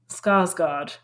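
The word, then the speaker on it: Skarsgård: it's got it's got alexander how do you pronounce his last name scarlet do you know who alexander skarsgard skarsgard that's right yeah it's got florence pew from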